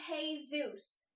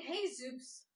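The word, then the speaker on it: Jesús: It's Manolo and Jesus. Manolo and Jesus? Manolo and Jesus? Yeah, you don't pronounce the J.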